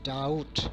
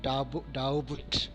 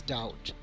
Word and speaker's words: doubt: It is doubt, not doubt. Okay, it is doubt.